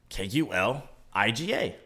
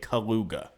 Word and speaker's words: Kuliga: It's definitely Kuliga. Or again, one of the other 2 pronunciations I've determined to be acceptable. There's not a secret U there at the end to make it Kaluga. Okay? Like beluga whale.